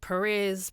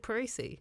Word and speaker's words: Perese: how would people normally say it? Perez, Percy. Oh, yeah. Yeah, you said Parisi. That's You're like literally how it said.